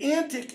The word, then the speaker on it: antique: these fairy toys and antic is how that word should be pronounced thats how it was pronounced in Shakespeare's day okay and the reason